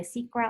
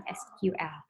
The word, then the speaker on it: SQL: Jadi SQL atau SQL, bacanya ini boleh SQL ataupun SQL.